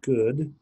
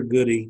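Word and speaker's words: Goode: good I don't know if it's good or goody it's you know good with an e on the end of it so I've seen people pronounce it both ways so George good or goodie um you need to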